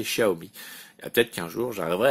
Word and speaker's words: Xiaomi: moi c'est servi mais normalement la vraie prononciation c'est xiaomi peut-être qu'un jour j'aimerais